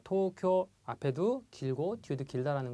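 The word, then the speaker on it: 東京: 자, 도쿄. 자, 앞에 발음도 토도 발음이 길고요. 쿄도 발음이 깁니다. 자, 도쿄 이렇게 짧게 발음하시는 분들이 계신데요. 자, 도쿄 앞에도 길고 뒤에도 길다라는 거 주의를 해 주십시오.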